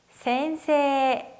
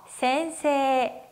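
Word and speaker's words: 先生: 센세이. 따라 읽어보실게요. 센세이. 네, 원래 히라가나 발음은 어떻게 되죠? 센세이인데 세와 이, 즉 에단과 이단이 만나서 앞에 있는 세 발음을 길게 발음했었어요. 그래서 센세라고 발음하고요.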